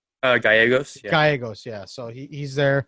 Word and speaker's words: Gallegos: gia uh how do you say that gia vallegos uh gallegos gallegos yeah so he's there giovanni gallegos giovanni